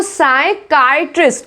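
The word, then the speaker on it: psychiatrist: Next देखो, साइकाइट्रिस्ट, क्या बोलेंगे? साइकाइट्रिस्ट बोलेंगे इसको। इसमें भी पी क्या है?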